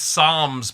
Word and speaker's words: psalms: So there's no l sound in it. Okay. And I I just wanted to make sure cuz I always said it's like it's psalms but like your tongue